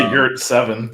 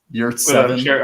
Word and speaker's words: Yurtseven: I always say Yurt7, but Yurtseven. I'm sure Melissa's pronouncing it correct.